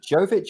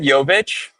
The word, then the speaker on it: Jovic: I mean, speaking of pronunciation, um there seems to be two ways of pronouncing her name. I don't think anyone's fully agreed on what it is. Is it Jovich or Yoic? I would go with Yovic. But Yovic. Yeah. Because I think she's like her parents are Croatian and Serbian. Correct. So, um, yeah, obviously Jovich is probably how the Americans pronounce it and ignorant Brits.